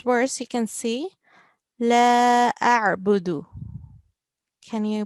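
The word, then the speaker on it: أَعْبُدُ: So here, this verse you can see, La a'budu. Can you pronounce it again? لا أعبد. Yeah, a'budu. So we have to make sure ayn is pronounced from our throat.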